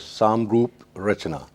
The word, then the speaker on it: Samroop Rachna: Yeah, it is the exact pronunciation of this art is Samroop Rachna. Okay. It's a Hindi phrase, not Hindi, specifically Sanskrit phrase.